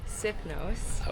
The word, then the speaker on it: Sifnos: I pronounce it sniffnos. Sonia says it's Sithnos, which is the same thing.